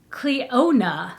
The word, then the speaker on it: Clionadh: this is a oh cleo nah it does say it it does show you how to pronounce it cleona yeah that's i did it right hey so that's that